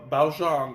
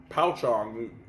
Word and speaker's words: Pouchong: And Pouchong or Pouchong, you can pronounce it either way, apparently has those properties as well.